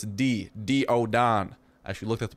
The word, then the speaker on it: Daeodon: like him or diodon I keep saying day but it's D do oon I should looked at